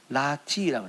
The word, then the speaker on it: 라티: 여러분, 내 사랑아라고 하는 거는 라티라고, 라티. 근데 라란 단어예요. 라가 여기서 이제 이거 붙어가지고 하면은 라티로 발음되거든요.